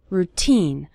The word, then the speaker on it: routine: part of your daily routine the syllable teen is stressed in the word routine you'll start seeing your